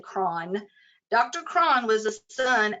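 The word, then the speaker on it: Croghan: Dr John KRON and that name was c-r-o-g-h-a-n I've heard several pronunciations of it I'm going to say KRON Dr KRON was a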